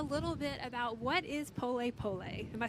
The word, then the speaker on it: pole pole: tell me a little bit about what is pole pole am I saying it right yes yeah yeah